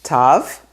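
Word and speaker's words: תו: Tav has a toe, so it makes the sound t. Tav sometimes has a dot in it and sometimes it doesn't. And that goes back to an ancient pronunciation that sometimes tav would have a different pronunciation. But today we just say t. Tav, like in Shabbat. So those are all the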